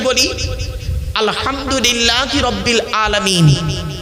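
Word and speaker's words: الحمد لله: আলহামদুলিল্লাহি রাব্বিল আলামিন। আলহামদুলিল্লাহি রাব্বিল আলামিন। এ গলার ভেতর থেকে উচ্চারণ করবেন।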